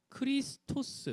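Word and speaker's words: Χριστός: 놨네요 이렇게 되요 크라이스 크리스토스 이렇게 됩니다 그러니까 이게 크 발음이 요크 크리스토 스 인데 이 크리스토스 헬러 에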